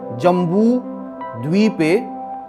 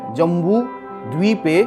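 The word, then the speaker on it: जम्बूद्वीपे: ओम तत्स दद्यै तस्य ब्रह्मणो द्वितीय परार्धे श्री श्वेत वाराह कल्पे जम्बू द्वीपे, इसमें बड़ा ऊ है, जम्बू द्वीपे, द्वी बड़ी है, द्वीपे भरतखंडे आर्या वर्तैक,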